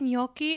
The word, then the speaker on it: gnocchi: ] i had this intense anxiety actually it's gnocchi it's good i know i i'm like bruce